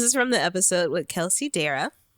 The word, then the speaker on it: Kelsey Dara: This is from the episode with Kelsey Dara. That's how you say her name.